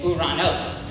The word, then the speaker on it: Uranus: And other people say Uranos. Now the reason why they say Uranos is because of a Greek pronunciation, which is in order to stray away from the first two, which are very, very immature.